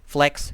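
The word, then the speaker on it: Flechs: use it and uh it's spelled f-l-e-c-h-s flex sheets and it's a digital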